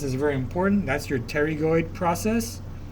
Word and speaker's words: pterygoid: That's your pterygoid process. The P is silent, but you pronounce it pterygoid.